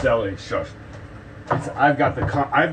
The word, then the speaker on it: Delhi: um how about uh it's delhi shush it's delhi it's pronounced deli i've got the co